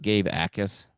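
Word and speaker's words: Gabe Jacas: the way, is pronounced Gabe Ais. The J is the J is silent.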